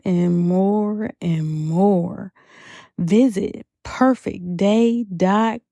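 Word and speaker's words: purfektday: more and more visit perfect day a. spelled how it is pronounced p u r f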